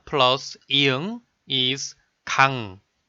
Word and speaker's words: 강: in the syllable 강, you know 기역 is sounded 그, 아 is sounded 아, 이응 is sounded 응. Then, if you pronounce it with the feeling at once, it's like 그아응, 그아응, 그아응, 그아응, 강. Finally, the sound 강 is completed.